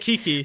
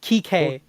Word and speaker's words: Kike: player who plays Falco, and his name it's pronounced differently, but it's spelt exactly like that. Oh no! And What, Kiki? like No. it's Kike. Kike.